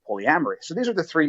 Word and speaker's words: polyamory: I did pronounce so when I said Polly Agra me I meant polyamory just I just want